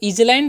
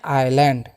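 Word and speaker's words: island: तो इजलैंड नहीं पढ़ना है। यहां पर जो है ना एस साइलेंट होता है। ये आपको याद रखना है। तो इसको हम क्या पढ़ते हैं? आइलैंड।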